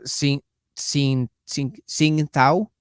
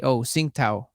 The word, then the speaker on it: Tsingtao: Yeah, Sing Tao, TSINGTAO, Sing Tao. I believe that's how you pronounce that.